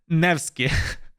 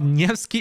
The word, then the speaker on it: Nevsky: Everybody, Nevsky.